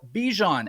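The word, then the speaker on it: Bijan: He said, "No, I actually don't like being called Bjon. I want to be called Bejon."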